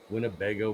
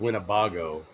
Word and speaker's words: Winnebago: Winnebago monster? Was out at Oberk Park. Or is that Now, Yeah, pronounced Winnebago? yeah, we're Winnebago.